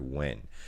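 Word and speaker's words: Nguyen: it up so yeah it's definitely pronounced win whenever you see the letters like that it's just when yeah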